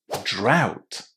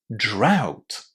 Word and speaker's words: drought: In this case, a u gt is pronounced exactly in the same way as the word out. Drought. Drought.